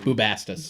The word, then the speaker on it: Bubastis: Bubastis.